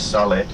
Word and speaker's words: Sale: And just now on your right, this Sale, well Sale, but Sale it's pronounced in Finnish Sale, is your nearest grocery store.